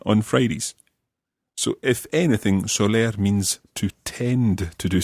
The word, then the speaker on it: soler: It's spelled S-O-L-E-R, soler.